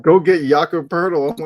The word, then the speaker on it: Poeltl: Like every fan base is like, go get Jakob Pertl.